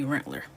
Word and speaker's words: Rensselaer: Rensselaer. If you're from Rensselaer, it would be Rentler.